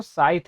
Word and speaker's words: scythe: ये इसको भी आप पढ़ेंगे, इसका जो प्रोनाउंसिएशन है वो साइथ है। सी आपको नहीं पढ़ना है, साइथ पढ़ना है। ई भी नहीं, पर साइथ है नहीं पढ़ना, साइथ। ठीक है, इसको साइथ पढ़ा जाता है, जो इनका एक तरह से वेपन है।